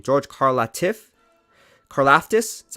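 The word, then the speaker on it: Karlaftis: some work on george carl how do you pronounce his name george carla tiff carlaftis is how you say his name george korlaftis and it's funny i was watching an nfl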